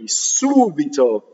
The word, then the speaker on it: subito: There are exceptions, like the word suddenly, subito. You see, it's two syllables from the end that's stressed.